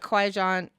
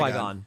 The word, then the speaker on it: Qui-Gon: But Qui-Gon, I'm saying it right. Qui-Gon.